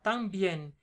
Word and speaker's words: también: Con tilde en la I. ¿Por qué? Porque son dos sílabas. También. La palabra termina en N. Recuérdate, las palabras que terminan en N, S o vocal y que son agudas, que llevan la fuerza de la pronunciación en la última sílaba, siempre se pone la tilde. Exceptuando los monosílabos.